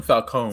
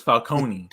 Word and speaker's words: Falcone: well they called him falcone though too he's not he's uh yeah you put the emphasis on the wrong syllable and then it begins it was falcone and this is they